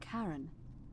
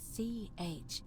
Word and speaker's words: Charon: The name you heard wasn't Charon. It was C-H-A-R-O-N, as in Charon, the ferryman of the dead.